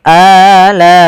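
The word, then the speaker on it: آلَاءِ: Panjangnya untuk mad badal berapa harakat? Yaitu dua harakat. Maka kita ulangi. Fabiayyi alai a dua harakat.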